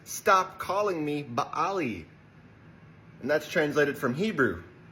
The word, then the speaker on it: Baali: says, "Stop calling me Baali." And that's translated from Hebrew. And Baali means Lord. Baali comes from the same word that Baal comes from. Baal is actually pronounced Baal, so Baali is just Bailey, basically.